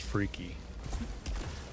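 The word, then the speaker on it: Phrike: You guys are telling me it's pronounced Freaky.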